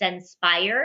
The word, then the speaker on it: Censpire: visit my website and my company name is senspire and it's spelled c-e-n-s-p-i-r-e and what it is it's all